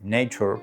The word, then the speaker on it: Nature: Pues la revista Nature, Nature, para aquellos que queráis ahí la pronunciación inglesa, publicó en los años 80 un